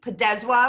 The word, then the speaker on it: Podeswa: And thank you so much, Jeremy Podeswa. Am I pronouncing it correctly?